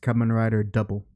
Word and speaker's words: Kamen Rider W: Oh, and also for that first Kamen Rider show you listed, that's pronounced Kamen Rider Double. Double. Yeah, Japan loves using the W and pronounce it as double, which is not wrong.